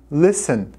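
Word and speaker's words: listen: ouvir o verbo ver o verbo nissan nissan não pronunciamos a letra t tá não fala inglês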